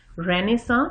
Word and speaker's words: Renaissance: رینیساں، اس کی پروننسیشن تھوڑی سی فرق ہے، غور سے دیکھ لیجئے اسپیلنگ.